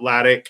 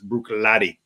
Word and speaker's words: Bruichladdich: This is the pronounced Bruichladdich. Bruichladdich. The Bruichladdich. It's not Laddick. It's Bruichladdich. Bruichladdich.